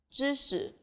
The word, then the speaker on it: 知识: When it comes after a, ci, chi, r, si, shi, or zhi sound, it's more like a short E sound, as in lip. 知识, 40.